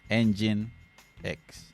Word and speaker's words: nginx: we feel you this one is called nginx engine x to all the instance orchestrators that make microservices